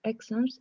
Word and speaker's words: exams: If you want to do well in your exams, you must revise for your exams. Exams. Con acento en la A. Exams.